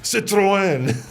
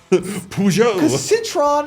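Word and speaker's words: Citroën: and I cringe yeah because Citroen Citron it sounds wrong I think there's got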